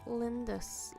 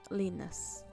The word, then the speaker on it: Linus: I think Lindus lives up here. There he is. Or did I say his name right? Yeah, Linus.